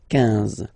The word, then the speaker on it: quinze: K, quatorze, quatorze, okay, same thing here, U doesn't exist, so quinze, quinze, quinze, all right, IN, nasal, so it's un, quinze, quinze, okay, then it continues, of course.